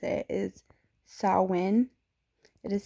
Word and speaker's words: Samhain: um the way to actually pronounce it is sauwen it is spelled s a m h a i n some people pronounce it as samhain which is fine if you do but the